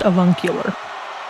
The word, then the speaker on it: avuncular: It's pronounced avuncular.